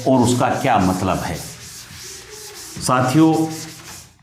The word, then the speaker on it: हंस: पक्षी का नाम है यहां अनुस्वार से जोर पड़ेगा जब आप बोलेंगे तो इसे कहेंगे हंस जबकि यह हंसना यहां